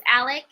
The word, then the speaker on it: Alex: name is alec murdoch it's spelled alex a-l-e-x but it's pronounced alec and there's like a